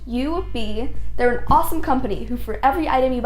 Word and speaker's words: Yoobi: you who aren't familiar with you be pronounced you would be they're an awesome company